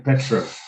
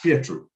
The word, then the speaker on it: Pietro: Trying to pronounce it properly. Kept saying Petro. Pietro.